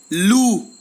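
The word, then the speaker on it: loup: Lou, lou, and with the article lalu, lalu. अगर आपको pronunciation में प्रॉब्लम आ रही है तो प्लेलिस्ट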